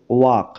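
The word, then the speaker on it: walk: letter clear যেমন দেখো ওয়াক ওয়াক এই শব্দটার এল এই লেটার উচ্চারণ হচ্ছে না তাই এই লেটার টাকে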